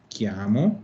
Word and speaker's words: chiamo: sino que digo mi chiamo. Mi chiamo. Ujú. Mi chiami. Ojo ahí, si se fijan, acuérdense de, aquí tenemos la primera regla de pronunciación, que dice que la CHI se pronuncia ki.